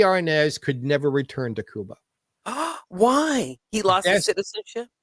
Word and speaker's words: Cuba: their sector of Kuba I say Kuba because that really how they pronounce Kuba Kuba Kuba but the tsta Revolution